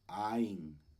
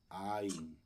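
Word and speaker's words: עין: ain ojo entonces bueno recuerde que la es muda entonces solamente mencionamos la a la pataj que está aquí y tenemos la yud con una I entonces decimos ain ain Okay entonces Eh bueno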